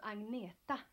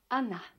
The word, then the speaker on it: Agneta: Hello, I'm Agneta. I know it's very hard for you to pronounce, but you can say Agneta or you can say Anna.